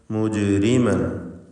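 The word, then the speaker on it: مُجْرِمًا: മുജ്രിമൻ, ഈ പദത്തിൽ ജീമിൻ്റെ സുക്കൂൻ ഖൽഖല സുഗ്റ നൽകി ശബ്ദം ഹറക്കത്ത് പോലെ ചലിപ്പിക്കുക.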